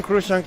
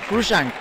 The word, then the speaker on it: Cruikshank: Cruikshank. There is too many letters that are not being pronounced right there.